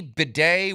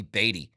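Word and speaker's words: Badie: bedet excuse me but I saw a lot of people saying it's pronounced Beday and I was like I've never heard that once it's got to be batty anyway um I've liked him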